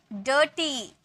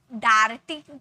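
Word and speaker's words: dirty: डर्टी, अब ऐसे बोले क्या, डाइट, डार्टी बोले क्या, डाइटी बोले क्या, नहीं, इसे अ में प्रोनाउंस किए, डर्टी।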